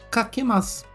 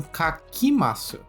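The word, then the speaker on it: かけます: Kakemasu. Não confunda com kakimasu. Apesar de os sons serem parecidos, aqui a segunda sílaba é que.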